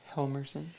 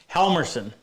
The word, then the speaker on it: Helmerson: name for me please helmerson helmerson it's not hard to say it's just when you see it written and eric joy he